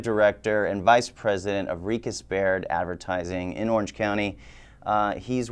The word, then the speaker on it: RiechesBaird: So, RiechesBaird. RiechesBaird. A lot of people pronounce it RiechesBaird. We get all sorts of pronunciations, yeah. Yeah. But it's RiechesBaird. RiechesBaird.